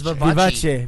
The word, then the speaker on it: Vivace: Look at that. How it's spelled. Italian Yeah. would be Okay. Vivace. It's Vivace.